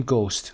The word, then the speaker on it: ghost: اون رو میگیم گوست، روح هست که جمعش هم میشه گوستس. به این شکل هم نوشته میشه. Hش تلفظ نمیشه، دقت داشته باشید.